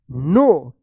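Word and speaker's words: know: ई D replied I अब बताइए इसको क्या पढ़ेंगे नो या नो क्या पढ़ेंगे इसको उसको पढ़ेंगे नो क्योंकि यहां पे के जो है ना साइलेंट रहेगा।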